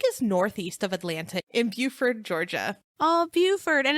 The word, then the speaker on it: Buford: The lake is northeast of Atlanta in Beaufort, Georgia. Oh, Beaufort. And it's spelled like Buford.